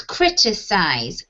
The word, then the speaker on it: criticize: the left, which is criticize, criticize. So the stress is crit, okay?